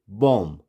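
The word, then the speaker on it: bomb: तो इसकी जो सही प्रोनाउंसिएशन है वो क्या होगी? बॉम्ब। बी क्या हो गया? साइलेंट।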